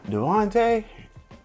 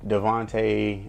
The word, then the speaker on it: Dante: they come out hey Dante bro everybody get my name wrong all the time like that's not myON bro like everyone always say Devonte or some other crazy name bro but anyway so they